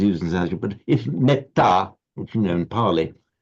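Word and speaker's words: metta: Whereas in parley, because of that double consonant, it's pronounced with a short e.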